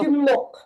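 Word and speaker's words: 십육: Pagka number 16 po, Shiyok. shimnok. Shimnok po yun ha. Ang pronunciation na po ay shimnok.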